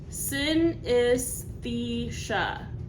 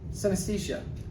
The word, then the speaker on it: synesthesia: I don't know how to pronounce that. Each scent correlating to a different color, mood, memory, or sound. Synesthesia.